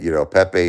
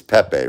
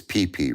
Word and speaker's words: Pepe: Am I saying it right? It's Pepe, right? That's the right way to say it, right? I don't think it's PP, right?